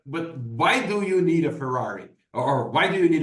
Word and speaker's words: Ferrari: We call Fiari in Portuguese. What? Okay. Say that again. What is the example here? Fari. Ferrari. Oh, Ferrari.